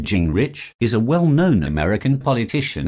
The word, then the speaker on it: Gingrich: newton leroy newt gingrich pronounced jing rich is a well-known american